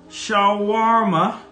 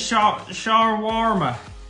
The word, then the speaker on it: shawarma: say say my oval how do you pronounce this pronounced shawarma joshua shawa what chicken shawarma this is shower warmer shower worm i don't